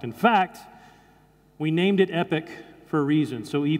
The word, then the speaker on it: EPYC: really compelling product in fact we named it epic for a reason so II pyc pronounced epic for those of you who haven't seen in